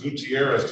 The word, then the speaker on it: Gutierrez: Um, this is the city of Detroit versus Anaj Alexis Gutierrez. Did I get the pronunciation correct?